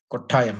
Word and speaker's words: Kottayam: It is not Kottayam. It is Kottayam. Ha. Ta, the second letter. Yeah, that one. You have to pronounce it that way.